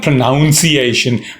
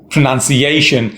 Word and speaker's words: pronunciation: It's not pronunciation. Pronounce is the verb. You pronounce a word and that is its pronunciation. None. It's N-U-N. Pronunciation. Stress on A.